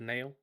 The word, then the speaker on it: Nile: I'm playing a guy called Nail, although his name is spelled Nile.